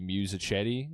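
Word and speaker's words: Muschietti: Uh, the Andy Musachedi is how you pronounce that.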